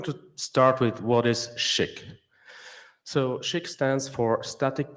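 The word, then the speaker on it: SCHC: this thing that is called SCC uh which is very unpronouncable as it is. So we call it SHIK.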